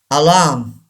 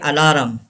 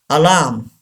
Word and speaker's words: alarm: word architect number eight alarm don't say alarum is wrong alarm R is not pronounced in this word alarm say this word alarm number nine ancient say